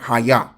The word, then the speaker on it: Haya: The pronunciation is different because it's got the Cha on it.